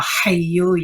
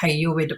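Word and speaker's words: حي: And we that are from India and Pakistan background, we tend not to say the ha when we say, like when we pronounce that word, like for example, hayu, we tend to not say the ha part.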